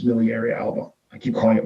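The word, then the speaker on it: miliaria alba: healthy malaria uh miliary alba right i always pronounce it strong it's miliary alba i keep calling it malaria is these vesicles these these um blisters are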